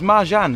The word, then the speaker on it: Marcan: It's Mahan is pronounced it, isn't it?